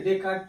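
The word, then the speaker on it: Descartes: यहाँ पे देखिए इसे डेकार्ट प्रोनाउंसिएशन करते हैं हम लोग।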